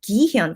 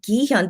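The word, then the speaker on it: 기현: tell in my pronunciation i pronounced his name the korean way of course because um i'm korean so gihen right so when you hear me say gihan does that sound like a k or a g i guess more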